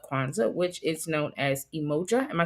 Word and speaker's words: Umoja: Today is day 1 of Kwanzaa, which is known as Umoja. Am I saying it right? Umoja.